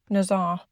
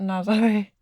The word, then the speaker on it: Nazaré: So we packed up 2:30 and headed to, I think I've been saying it wrong, Nazar, not Nazaré. Nazar. Is it Nazar? Yeah. I thought it was Nazaré.